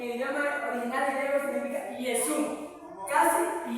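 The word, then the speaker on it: Ἰησοῦς: Jesús en el idioma original de griego significa Yesú. Casi Yesu. Casi lo mismo. Yesú con i. Yesu. Lo pronuncia con i.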